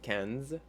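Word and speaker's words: quinze: fine and then uh 15 same thing that i n is that like a sound so you would say kenz and then 16 is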